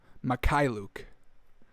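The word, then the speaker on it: Mykhailiuk: Mikhailuk.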